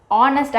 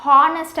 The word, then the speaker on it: honest: And more over பார்த்தீங்கன்னா, இப்போ நம்ம நிறைய பேர் அந்த ஆனஸ்ட் அப்படின்னு நம்ம சொல்ல மாட்டோம், ஹானஸ்ட் அப்படின்னே வந்து நம்ம ப்ரொனவுன்ஸ் பண்ணுவோம் நம்ம ஊரில். அந்த மாதிரி ப்ரொனவுன்ஸ் பண்ணும்போதும் அந்த இடத்துல கன்ஃபியூஷன் வரதுக்கான சான்சஸ் இருக்குது. ஏன்னா இப்போ ஹானஸ்ட் அப்படின்னும் போது சவுண்ட் கான்சனன்ட் சவுண்ட் தான் கேட்குது, அதனால் அந்த இடத்துல போட்டுடலாம். பட் ஆனால் அதோட ஆக்சுவல் ப்ரொனவுன்சேஷன் ஆனஸ்ட்.